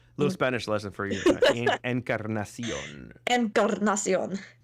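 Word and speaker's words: Encarnación: Encarnacion. Incarnation, basically. Encarnacion. Little Spanish lesson for you. Encarnacion. Encarnacion. You don't have to roll your R because it's not a double R, but yeah, it's good.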